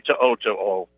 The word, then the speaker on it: To'o: Alabama got one of the biggest transfers coming out of Tennessee, and I'm going to mispronounce this kid's name, so forgive me, but Henry To'o.